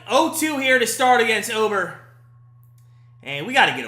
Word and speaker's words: Ober: It's Ober, right? Not Uber.